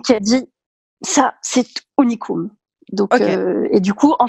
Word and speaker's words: Unicum: Ok, et donc puisque tu t'es lancée une première fois avec Unicum, comment tu le prononces? Unicum.